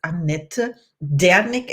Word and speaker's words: Annette Dernick: my today's guest is aneta danik and I have to pronounce it German in the German Way because she's from Germany S I am welcome